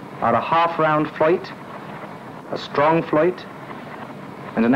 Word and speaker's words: float: The most used tool is the floit, spelled float, but always pronounced in the traditional South Yorkshire way, which is a single